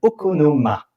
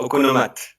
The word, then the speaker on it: Okonomate: Selon ma petite fiche, votre projet s'appelle Okonoma. C'est bien ça? Voilà, Okonomate. On prononce T à la fin.